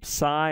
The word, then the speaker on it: psi: The psi or psi is like a ps, like air escaping from your mouth, is ps sound.